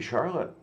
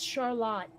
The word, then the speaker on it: Charlotte: The only thing I can think is it's probably because we're so damn close to Quebec that it got pronounced a little Frenchier.